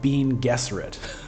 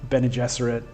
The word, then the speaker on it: Bene Gesserit: Just be happy I don't pronounce this Bean Gesserit. That's the way I used to pronounce it in my head when I read the books when I was a teenager. I've changed on that one. I've adapted to Bene Gesserit.